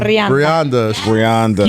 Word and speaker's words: Brianda: Is it Brianda? Brenda? Brianda. Brianda. You roll your R's?